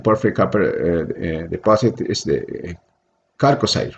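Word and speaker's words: chalcocite: So the biggest one in the porphyry copper deposit is the Calcosite, right? It's in Spanish they call calcocina, but they can pronounce also chalcosite.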